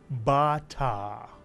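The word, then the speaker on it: בת: So this syllable is actually read bat.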